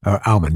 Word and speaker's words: Aumann: Is that how you pronounce it? Aumann, yeah. Aumann.